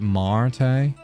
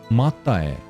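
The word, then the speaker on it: Máté: There was a Hungarian guy I used to know called Mate, and I pronounced it like... Is it Mate? And then you pronounce it Marte?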